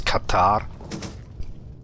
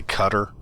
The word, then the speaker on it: Qatar: I think it's Qatar. A lot of Americans and what I've been told in the past, it it they we say cutter.